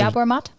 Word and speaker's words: yerba mate: And some other Yerba mate? Yeah, I don't know. Maybe yerba mate. Yerba. If you're from the South, it would be pronounced yerba mate. But that's probably incorrect.